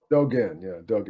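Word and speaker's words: Dōgen: Dogen's uh correct me if I'm pronouncing it wrongly. Is it Dogens? Shogenzo. Dogen. Yeah. Dogen.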